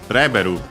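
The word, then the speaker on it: レベル: Again, as for Bulbasaur, Reberu level in from English, accented just like in English, on the re.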